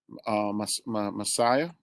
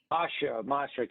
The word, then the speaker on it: Macia: Officer Socola, Sergeant Guglielmo, and the new commanding officer, Captain Messiah, Mascara. What is it, Officer Socola? I don't want to pronounce his name wrong. Masha, Captain Masha. Masia, right? Masia? Masha, yes. Masia.